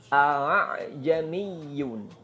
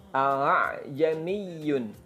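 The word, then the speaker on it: ءَأَعْجَمِيٌّ: ya Gimana bacanya nah saya contohkan baca satu kata ini saja bacanya seperti ini dengarkan baik-baik Aa Jeni Yun alay Jenny Hyun jadi absen Pertama A kamja yang kedua diringankan ah kalau di apa ya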